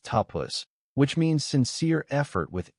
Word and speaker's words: tapas: pronounced tapus which means sincere effort with inner warmth and commitment.